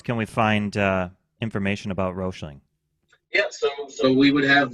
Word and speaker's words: Roechling: Why do we put the E in there when they don't see it anywhere else? So Just to you get have us to say it correctly? try. I don't even know if I always say it correctly. Yeah, I hear Roechling. I've heard a lot of different versions of your guys' company. I just go with Roechling